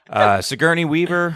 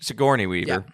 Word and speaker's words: Sigourney Weaver: Sigourney Weaver, right? That's how you say her name. Sigourney Weaver.